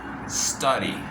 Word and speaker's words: study: La D no la pronuncio D, la pronuncio como una R.